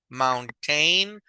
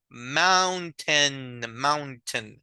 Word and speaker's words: mountain: So notice the pronunciation is not mountain or mountain, is mountain. So it's like very open. It's not mo, is ow, ow.